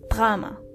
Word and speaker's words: Drama: Drama is simply das Drama. You just have to make the word drama more German. Das Drama. So roll your R's.